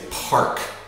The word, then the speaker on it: park: If you see the word park, even though it reads bark, don't say it like that. Say park.